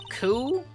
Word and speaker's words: coup: Coup? There, we got it eventually. Half the word is silent.